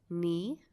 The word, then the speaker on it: Nye: I wanted to let you know my name's pronounced Nee.